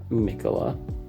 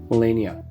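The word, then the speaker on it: Malenia: In the work spot, I have beautiful Mikola? Probably gonna pronounce it wrong. Melania, there we go, Melania from Elden Ring.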